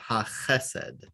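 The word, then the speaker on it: החסד: And this is one where there's a special rule. The accent is moves up a syllable. Ha chesed.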